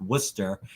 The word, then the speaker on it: Worcester: worcester polytechnic institute it's spelled worchester but it's pronounced worcester um we are we also go by wpi